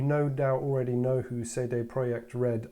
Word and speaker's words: CD Projekt Red: doubt already know who say they project red are yes that is how you say it but um i'll just